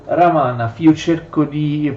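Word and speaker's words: Романов: of Russia in general in Italian we pronounce Romanov But in fact in Russian we say ramana I try to pronounce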